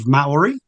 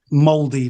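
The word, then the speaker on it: Māori: Um the way it's spelled, you almost want to say sort of mauy, you know? So, Maui, but you say it like moldy, like a moldy piece of bread. Okay. So, you know, like there's mold. Yeah. So, so you say moldy.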